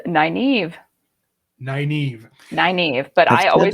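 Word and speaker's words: Nynaeve: i turned this into nina v which it's not even phonetic but nina v was what i always said and you can tell us the actual name it is naive naive naive but i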